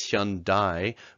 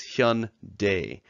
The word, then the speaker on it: Hyundai: in the English markets its branded as Hyundai but actually in the Korean origin the word is Hyun Day which means modern in Korean and it's okay if you pronounce it anyway but I just thought you'd be curious to know how the original Korean word is pronounced next is cup so